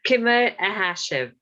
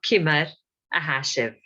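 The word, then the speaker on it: Ciamar a tha sibh: Well, so therefore, when you see the letter C, it's pronounced as K always. Okay, so Kimmer ahashiv.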